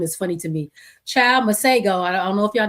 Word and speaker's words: Masego: So apparently the correct way to say his name is Masego. But I guess he don't know his name either because he's been calling himself Masego.